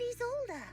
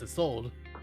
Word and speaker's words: Isolde: So it's Isolde.